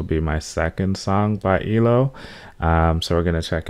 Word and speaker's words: ELO: So I think this will be my second song by Elo. So we're going to check it out. Or I think it's pronounced E-L-O, if I'm not mistaken from the comments.